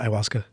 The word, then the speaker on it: ayahuasca: He was atheist before he did it, and is that how you pronounce it, ayahuasca?